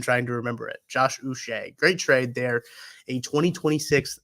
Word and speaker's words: Uche: Uche is how you say his last name, by the way. Uche, like Bobby Boucher.